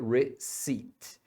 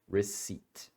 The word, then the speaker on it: receipt: essa palavra você pronuncia receit então o p não é pronunciado e a letra e também não é pronunciada receit você tem alguma pergunta